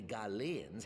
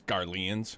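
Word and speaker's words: Garlean: to appear that the Gans have been hard at work on another such vessel hate how he pronounces garans it's garan how close are they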